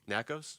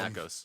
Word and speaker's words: Nakos: Is it Nacos or Nakos? No, Nakos. We'll go with Nakos.